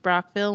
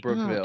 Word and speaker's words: Brockville: Oh, so, why is it pronounced Brockville when there's two O's? There's not two O's. What? You're just full of your questions here tonight, Becca. B-R-O-C-K-V-I-L-L-E. I accidentally said Brookville.